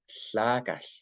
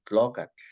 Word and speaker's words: tlacatl: por lo menos antes, si íbamos hace 100 años, ahí íbamos a escuchar tlacal, tlacal. Entonces hay si vamos a Tetelcingo en Morelos, ahí dicen tlocatl, tlocatl.